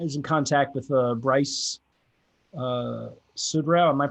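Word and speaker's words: Suderow: And at the time, as Petersburg was being finished up, I was in contact with Bryce Sudrau. Am I pronouncing his last name right?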